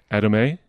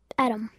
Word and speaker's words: Adome: Adome? Adam. Oh, and okay. Well, it's A-D-O-M-E, so I from my previous attempt, I thought I would try to get that correct, but I was close.